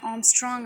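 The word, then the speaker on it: ångström: அங்கே capital A போட்டு அதோட ஹெட்டில் ஒரு 0 மாதிரி போட்டிருக்காங்க இல்லையா, அந்த சிம்பிளை நம்ம எப்படி ப்ரொனவுன்ஸ் பண்ணணும் அப்படின்னு பார்த்தீங்கன்னா ஆம்ஸ்ட்ராங் அப்படின்னு ப்ரொனவுன்ஸ் பண்ணணும். ஓகேங்களா.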